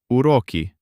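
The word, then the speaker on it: уроки: It stands before O, so it remains hard. The first U is unstressed. It turns out Uroki lessons just like what you and I have right now.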